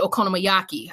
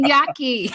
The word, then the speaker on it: Okonomiyaki: While I lived in Japan, I also made okonomiyaki.